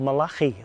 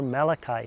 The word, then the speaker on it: Malachi: to the book of Malachi, or Malachi as it's pronounced in English.